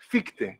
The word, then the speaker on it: Fichte: How do you say Fichte in English? Fichte. We say Fichte.